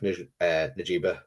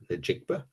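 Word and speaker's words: Njigba: But the likes of, you know, Jackson Smith, Najiba, I'd said that wrong, butchered that. Jigba. Najigba.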